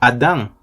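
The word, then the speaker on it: אדם: raíz primaria que es adamn con m al final y acento en la a Adam significa o representa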